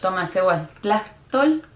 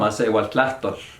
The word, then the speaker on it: Tomasewaltlahtol: And others they would say Tomasehuatlahtol, which is kind of like our indigenous language. I don't know how to translate it exactly, but That's where it beautiful. goes. Yes. Tomasehuatlahtol? That was horrible. Tomasehuatlahtol.